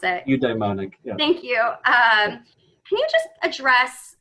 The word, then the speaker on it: eudaimonic: Asher, the first question is the studies on hedonic versus, I'm not going to be able to pronounce it. Eudaimonic, yeah.